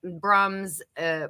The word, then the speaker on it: Brums: Broom. It's broom. It's actually it's pronounced broom, but I always say brums. 'Cause it's Yeah. the way it's spelled. But the true pronunciation is broom.